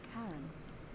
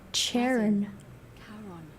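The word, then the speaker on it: Charon: it's just as you described it only your pronunciation is a little off the name you heard wasn't Karen it was c h a o cheron I told you guys we were all dead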